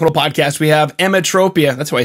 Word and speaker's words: Emetropia: today on rock n roll podcast we have emmatropia that's why i say it right emmatropia yeah that's that's correct okay beautiful they have